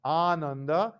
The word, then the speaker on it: Ananda: For example, Anuttara starts with a simple A, But Ananda starts with a long A that corresponds to the second.